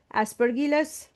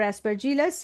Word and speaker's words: Aspergillus: sac as an example aspergillus or aspergilus you can pronounce like that penicellium sacroyces and basidio micota those are clav fungi produce pores and clapshaped basidia example agaricus ustilago etc.